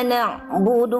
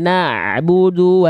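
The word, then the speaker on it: نَعْبُدُ: Di na'budu Bunda jangan sampai terputus ain sukunnya. Ain sukun, ain punya sifat namanya tawasud. Tawasud itu sedikit mengalir suaranya. Na'budu. Coba. Na'budu. Nah, sedikit lagi diulang. Na'budu. Na'budu. Na'budu. Itu kan di ujungnya masih putus tuh. Na'budu, jangan ada puncaknya. Na'budu dialirkan sedikit suaranya. Jadi jangan dihantarkan suaranya, bukan diputus di ujung.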